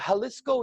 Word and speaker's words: Jalisco: in in mexico is jalisco you could probably pronounce because yeah they pronounce a j with an h or something i'm from canada it's